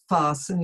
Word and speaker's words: fasten: the gain the t there's not is not pronounced you'll have to fasten your seatbelt and that's also something they'll request you to do if you're if yours yes going to have turbulence they'll ask you to fasten your seatbelt even during the flight they may